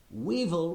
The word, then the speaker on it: weevil: Weevil rhymes with evil, and that's what many people think it is.